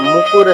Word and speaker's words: मुकुर: मकुर सुधार, मकुर नहीं, मकुर कोई वर्ड नहीं, मकुर नहीं, निज मन मुकुर सुधार।